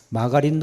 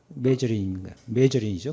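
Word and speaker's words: margarine: 마가린도 안 되죠. 메저린이에요, 뭐요? 메저린인가 그러죠? 메저린이죠. 근데 뭐 처음에 찾는데 마가린 하나도 못 알아들어요.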